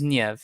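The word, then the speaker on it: Niamh: But it is Niev.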